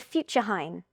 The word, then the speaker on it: futurehain: You're still very much involved with Falling Walls, but you have now created a new startup called Future Hein. Can you tell me, did I pronounce it correctly?